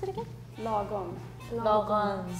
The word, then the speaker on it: lagom: Lagom. Lagom. So A is almost like O.